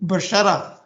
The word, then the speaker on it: बशरा: This firstly, this, the correct pronunciation है बशरा. ये उर्दू के शब्द हैं.